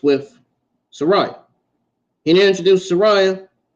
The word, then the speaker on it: Saraya: Sariah can you introduced Soraya which people like to call her Saraya I guess that's her actual name I guess that's the proper way to say it I guess both